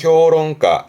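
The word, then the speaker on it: 評論家: 평론가 발음은 효롱가 효롱과 그럼 앞에서도 이제 비평가 그러면 희가 히효가처럼이 평자는 평하는 부분이라 평가하고 비평하는 도로 참 많이 보게 됩니다.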